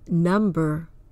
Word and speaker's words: number: it is usually silent an exception is the word number but why because number is its own word you can't break it down into a smaller word that carries the same or a similar meaning for example if you